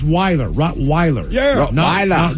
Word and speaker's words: Rottweiler: Rottweiler is correct. A lot of people say Rottweiler. What? Rottweiler? What the hell? I like that Rottweiler. It's Weiler. Rottweiler. Yeah. Rottweiler.